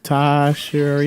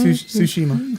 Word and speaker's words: Tsushima: So I'm gonna remember by saying sushi and sushi. I mean, that's fair, even though it's spelled different. But Yeah, but it'll make me say the right noises. that's true. So Actually, SU and TSU make different sounds.